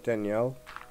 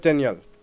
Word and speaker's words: Daniel: But the teacher I had for that, his name was Chef Daniel, and you had to say his name like a French person would say it.